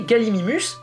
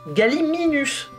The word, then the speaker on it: Gallimimus: beaucoup de gens ont tendance à faire l'erreur et à appeler galimimus galiminus mais en fait c'est une erreur dans le SCP de Jurassic Park notamment dans la version française où il est bien prononcé galiminus alors que galiminus ça n'existe pas Gal galiminus on retrouve